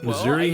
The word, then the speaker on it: Missouri: can get it okay Missouri has two official pronunciations of its name yeah of course Missouri and Missour yeah don't do this